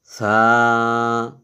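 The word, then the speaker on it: ث: এটা তা এরপর হলো ছা এই ছাটা এর উচ্চারণটা একটু নরম করে করতে হয় এগুলো মোটামুটি একটু নরমাল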